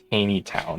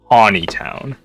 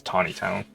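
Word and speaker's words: Taneytown: So it's spelled Taney town, and it's not pronounced Taney town. It's Tawny town. Like I guess like Puxatawny, Phil, but without the W. So yeah, it's not Taney town. It's Tawny town.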